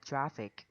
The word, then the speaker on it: traffic: Và chữ cái kẹt xe và giao thông á, thì mình sẽ nhấn âm đầu tiên là traffic.